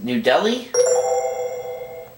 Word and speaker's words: New Delhi: The capital of India is not pronounced Calcutta or Calicut, but this way. Let's hear it, player one. What is New Delhi?